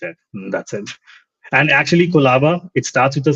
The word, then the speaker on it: Qolaba: French, Russian, American, everyone, they just say Kolaba. Like it's very natural. No one has said it any other way, and we've never said how the pronunciation works. So that's how, like, yeah, we thought around it that it should be just a sound, and everyone just relates with it.